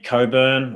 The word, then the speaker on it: Cockburn: yep um and uh ray coburn or cockburn is pronounced uh the real estate